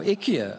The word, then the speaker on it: IKEA: to land a moment Ikea yes or Ikea as the ads tell us to pronounce it now that's the one